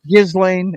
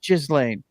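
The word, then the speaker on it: Ghislaine: Jizzlane. I'm pronouncing it correctly. Believe it or not, it's not Gizlane. It's Jizlane.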